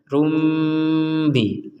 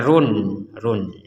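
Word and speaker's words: بَصِيرٌۢ بِمَا: diperkuat dengan huruf mim sehingga kita harus membacanya rumbi rumbi ada dengungnya ada dengungannya untuk bacaan ini ya rumbi jadi jangan dibaca Run Run jangan apalagi dibacanya besiubima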